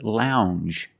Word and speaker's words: lounge: and this word is lounge Lounge it makes the regular n plus the J Lounge it follows the same pattern as orange and change um it's a regular n plus the soft J sound Lounge a lounge is